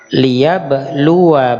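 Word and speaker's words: لِيَبْلُوَا: Liyabluwa ba'dakum. Nah, di situ perhatikan, hati-hati alifnya tidak memanjangkan huruf waw. Nah, jadi itu alifnya tertulis tapi tidak terbaca.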